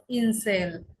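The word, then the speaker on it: Insel: Example হচ্ছে ইনসেল। ইনসেল। এই যে আই, আই এর উচ্চারণ কি হয়েছে? ই। ইনসেল।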